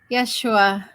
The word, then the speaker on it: Yeshua: I've heard it before there are no letters that can be recognized in the language of the ancient Aramaic systems why does not exist J is not effectively pronounced therefore it would be pronounced with an AI in your languages it would be a schwa thank you it could